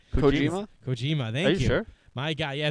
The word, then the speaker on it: Kojima: koj sounds never say his name right coima Kojima thank you my God yeah it's Kojima I